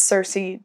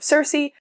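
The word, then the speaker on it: Circe: I've heard people pronounce Cersei differently in many different ways, so I'm gonna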